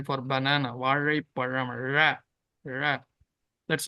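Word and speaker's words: வாழைப்பழம்: It is not there in Telugu. It is only there in Malayalam and Tamil. Vazhaiparam, we say for banana. Vazhaiparam, ra, ra.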